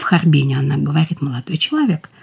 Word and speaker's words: Харбин: в Швейцарию через Харбин, как произносили в Харбине. Вот это ударение для меня очень важно, когда говорят, многие произносят в Харбине, но...